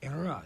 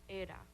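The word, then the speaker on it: Eira: name, Era, is actually the Welsh word for snow, which is pronounced Era, but we say Era because it's the United States.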